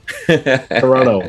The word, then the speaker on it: Toronto: America your beautiful city Toronto did I pronouncing right they Toronto no no no there's there there's only one te in Toronto Toronto yeah yeah that's how